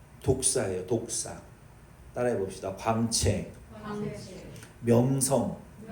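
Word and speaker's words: δόξα: 이 영광이라는 단어는 헬라어의 말씀의 발음이 독사예요.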